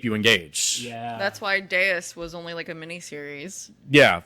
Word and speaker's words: Deus: It's the Roman V that turns into a U. It's Deus. The machine is literally God.